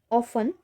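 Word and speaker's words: often: गिनना उन्होंने कंटिन्यू रखा ऑ फन अब यहां पे आप देख रहे हैं टी यहां साइलेंट है ब्रिटिश इंग्लिश में उसे ऑफें बोलते हैं और अमेरिकन इंग्लिश में इसका प्रोनंसिएशन ऑफ्टन ही होता है लेकिन हम जो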